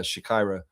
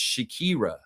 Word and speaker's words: Shakira: Fiercely saying Harrison and Benlay will take care of uh Shakyra Lex. It's Shakira.